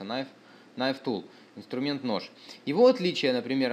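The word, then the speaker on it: Knife Tool: носит название на нож пишется к kn читается на N Tool инструмент нож его отличие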